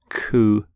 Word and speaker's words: coup: the pronunciation of coup you don't say the P don't sound the P at the end coup here's the your next